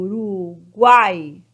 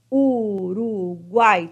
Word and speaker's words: Uruguai: separo em três sílabas O Uruguai Uruguai três sílabas né então aqui ó Uruguai Então essa palavra ela é oxítona porque é a última palavra forte é a última sílaba forte né ó Uruguai é o mais forte ela é oxítona Ok